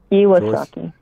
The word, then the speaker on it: Iwasaki: is your last name I pronounced Iwasaki he was lucky he was lucky okay Joyce he was